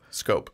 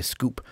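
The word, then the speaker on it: Schoop: Is it Scoop? Is it Swoop? Scope. I always say Scoop.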